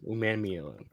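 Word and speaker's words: Umanmielen: let's run with princ Ley how did you pronounce it un man Meen man uman mean got it uman mean okay and then the commanders in round one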